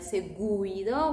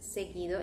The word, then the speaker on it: seguido: Can you see the U is after the G, but we are not going to pronounce it like seguido. We say just seguido. In this case, U becomes silent.